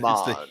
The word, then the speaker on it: Mahn: It's Pronounced Mon. it's the Hebrew spelling.